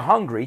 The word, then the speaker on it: Hungary: no I'm just joking hungry the country it sounds exactly the same hungry right I'm hungry so I'm going to go to Hungary to eat some food